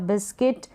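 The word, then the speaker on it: biscuit: के बाद में आई है तो इन सारे स्पेलिंग में यू के बाद में एक और वावेल आया कोई सा भी हो सकता है तो वहां पर यू क्या है साइलेंट है यू का उच्चारण नहीं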